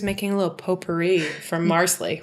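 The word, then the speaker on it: Marsali: And we find out he was making a little potpourri from Marsley. Rhymes with parsley.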